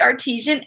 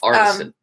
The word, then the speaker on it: Artisan: So this is the Prairie Artesian Ales. It's artisan. It's artisan. I say it wrong every single time.